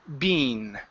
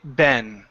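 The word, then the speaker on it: been: as being Bean okay most people in the United States say Ben they use a short e or awah type sound B Ben or Ben okay um it depends on whichever one you want to use so just know that there are two pronunciations of this word here Mustafa you did say Bean okay in in the US it's more of an eh sound Ben okay so just so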